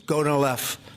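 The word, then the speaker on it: Gonal-f: So, it's gonolf. Is that a proper pronunciation?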